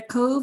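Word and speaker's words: Cobh: uh writing down their cove is actually uh c-o-b-h uh the bh like my name is pronounced like a v an irish and its former name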